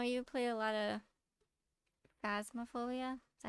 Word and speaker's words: Phasmophobia: so I know you play a lot of Phasmophobia. Is that how you pronounce Yeah, it?